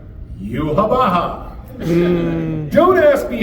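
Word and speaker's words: Yhwach: written out in the manga YWACH, but it's pronounced Yuhabaha.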